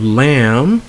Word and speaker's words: lamb: end with M B and if you dropped the B so the B is silent so you have lamb you have comb you have balm you have num yo plum and then you have tomb alright so in all these